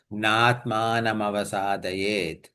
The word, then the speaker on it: नात्मानमवसादयेत्: So Na Atmanam Avasadayet together becomes Natmanam Avasadayet.